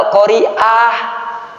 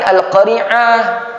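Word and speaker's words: القارعة: dia belajar di mana Itu mah alqoriah pakai Hamzah ini bacanya pakai Ain alqariah tapi bukan alqaringah coba alqariah apa alqoriah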